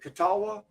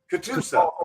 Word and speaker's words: Catoosa: Koch is how it's spelled, but it's pronounced like Coca-Cola, Coke. At the verdigris port, right there in is it Catawba? The port of Catawba? Catoosa.